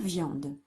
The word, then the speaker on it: viande: Troisième mot, la viande. Deux mots. Donc la, espace, viande. Viande. Donc on entend yan. Viande. Et il y a un E muet à la fin.